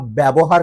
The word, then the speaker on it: ব্যবহার: তো আমরা তোমাদের সাথে যদি খারাপ ব্যবহার করি, ওই যে ব্যবহার শব্দতে জফলা প্রথম বর্ণে, হ্যাঁ, ব্যবহার করি, খারাপ